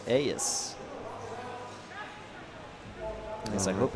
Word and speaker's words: Aeis: map, our Protos player in the teal, it's AS. At least I hope it's AS. It is AS. Excellent. Not the the ASUS. Asus apparently is how it's pronounced when I I I found that out yesterday.